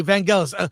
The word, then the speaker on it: Vangelis: Vangelis? It's not gel, it's gal. It's a hard G. It is gal. Okay, Vangelis.